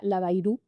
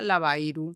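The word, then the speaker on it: Labayru: Pero en ese sentido la llamada que es la historia de Silvia Laba Bairu, así se pronuncia, se pronuncia la Bairu, sin acento. Sí, la Bairu, o sea, con U, pero sin acento.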